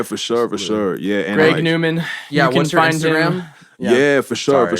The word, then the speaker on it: GREGNWMN: yeah and it's pronounced greg newman greg newman yeah which is like my actual like that's how you pronounce my like government name like so it's still phonetically like greg newman but it's just like